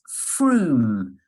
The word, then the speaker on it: Frome: Okay, so number 1, it's a place name and it's Frome. So that's spelled F-R-O-M-E.